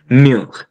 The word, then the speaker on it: mur: होता है The wall, basically le mur, and it's pronounced as mur, mur, mur.